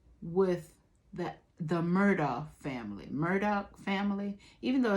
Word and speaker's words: Murdaugh: been keeping up with that the murder family Murdoch family even though it's spelled murdered off Murdoch y'all be keeping up